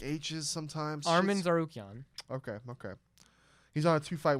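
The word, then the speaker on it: Tsarukyan: Armin Tasarukyan. Sarukian. I'm so fucking sorry, guys. Sarukian, because the T is silent. I'm such a disrespectful piece of shit. The TS is a Zar. Yeah. Yeah, Zarukian.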